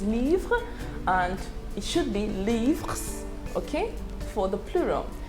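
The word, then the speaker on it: livres: and it should be leaves okay for the plural in french the s of the plural is silent okay so whether it's singular or plural the pronunciation remains the same okay but in writing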